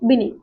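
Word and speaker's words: Binet: का नाम क्या थे अल्फ्रेड बिने ये इसमें टी साइलेंट होता है ठीक है इनका चलो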